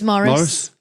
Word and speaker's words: Maurice: That's Maurice, isn't it? But it's Morris. Is it? But call him Maurice. His name That's His name's Morris. No, but it's spelled Maurice.